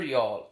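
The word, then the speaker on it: Youghal: cork and Waterford and it was near y'all pronounced y'all are spelled yoga yeah but it's near y'all and it was it was to save one-horse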